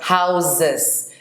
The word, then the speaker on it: houses: House, houses. The S is pronounced like a Z.